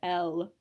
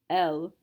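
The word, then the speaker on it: elles: Yes, it really is still pronounced L. There is no pronunciation difference, again, except in the case of liaison, between the singular and the plural. She, elle, they, L. S is not a careful letter.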